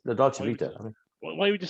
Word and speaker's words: Dolce Vita: And apparently I'm the only person in the world that pronounces it like that because I emphasize the Vita bit. I'm like, the Dolce Vita.